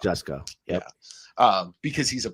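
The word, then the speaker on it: Jusko: certain you know like Joe jusco is not up for debate it's not just go it's just it's just go yeah um because he's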